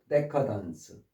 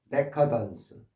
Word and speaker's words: decadence: 앞에 강세가 있다 보니까 케이드가 아니라 데커던스. decadence.